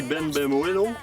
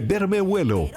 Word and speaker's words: Bermejuelo: Beau petit poisson, on l'appelle ici Ben Bemuelo. Je le prononce probablement très mal. Difficile à prononcer, Martin? C'est Bermejuelo, mieux connu sous le nom de lane snapper, un poisson de la grande famille des Lucianidae.